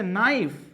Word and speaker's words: knife: এই শব্দের উচ্চারণ হচ্ছে নাইফ। নাইফ উচ্চারণ, নাইফ। দেখেন নাইফ কিন্তু হচ্ছে না, নাইফ হচ্ছে। এই যে এখানে একটা লেটার থাকা সত্ত্বেও উচ্চারিত হচ্ছে না, এটা হচ্ছে সাইলেন্ট, মানে এই জায়গায় কি এটা সাইলেন্ট অবস্থায় আছে।